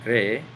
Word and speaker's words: cree: Juana cree que su novio es inteligente y simpático. Juana cree. Notice that you also pronounce the E twice.